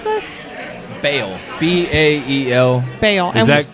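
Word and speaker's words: Bael: How do you pronounce this? Bale.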